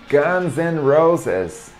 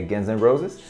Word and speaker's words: Guns N' Roses: Guns N' Roses. Guns N' Roses. Muitas pessoas pronunciam de forma certa, né, essa banda, mas